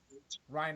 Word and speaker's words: Reinert: Reinert.